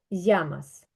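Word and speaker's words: llamas: тому що на наприклад в Аргентині чи в уругваї цей подвійний л ця подвійна л читається як ш і в Аргентині вони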